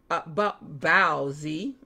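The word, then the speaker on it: baozi: Growing up in a Mandarin speaking family, I always said bao-zi instead of bow and pronounced the word differently, but the Americanized pronunciation is usually bow.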